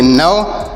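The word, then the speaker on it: gnaw: जी एन ए डब्लू इसे पढ़ेंगे नौ जी यहां ड साइलेंट है इसे नहीं पढ़ेंगे इ से पढ़ेंगे नौ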